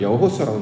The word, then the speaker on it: 여호수아: 왜 여호수아라고 부르냐면 앞에 이제 히브리어 글자는 요드라는 단어 하나님의 손이라는 뜻을 가지고 있는 열 번째 단어요 앞에 붙습니다. 그러면 어 요와 요드 호세아 이래서 이걸 여호수아라고 이제 발음을 하는 거예요.